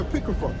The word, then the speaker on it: Apocrypha: It's not the Apocrypha. It's the Apocrypha. Like, you have to say it right, you know.